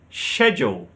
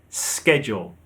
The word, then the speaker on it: schedule: In British English, we say schedule, while Americans say schedule. The stress is on the second syllable, schedule. So we have schedule and schedule.